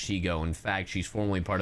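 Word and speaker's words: Shego: I just watched the whole Shigo stuff, and I am delighted that I remember that, yes, it's pronounced Shigo.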